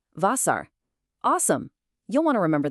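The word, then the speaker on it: Wasser: This is the letter W, but in German it sounds like the English letter V. So we pronounce it V. A great example is Vasar, which means water.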